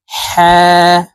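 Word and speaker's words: حاء: করে উচ্চারণ করব ওয়াও হা এটি ছোট হা হলুকের শুরু থেকে উচ্চারণ করতে হবে কারণ এই ছোট হার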